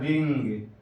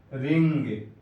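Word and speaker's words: ring: اسی طرح رنگ، رنگ.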